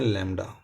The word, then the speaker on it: lambda: ठीक है, इसको हम लिखते हैं लैम्डा, लैम्डा, या बाउस का इसको बी को साइलेंट कर देते हैं, लैम्डा, वटएवर।